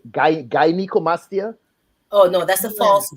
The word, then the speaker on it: gynecomastia: I think it's called gynecomastia. Oh no, that's a false breast. When you see a 12, 13-year-old boy, boys, yeah, when you find what's the Cica. proper pronunciation for that? Gynecomastia.